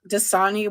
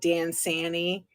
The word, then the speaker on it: Dasani: of her mispronouncing like Dasani water she calls it Dan Sani she calls Darth Vader